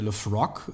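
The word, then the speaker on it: Laphroaig: Genau, und das ist eben, also Islay ist bekannt für seine rauchigen Whiskys, also wahrscheinlich der bekannteste ist ja der Lefroc, wird er, glaube ich, ausgesprochen.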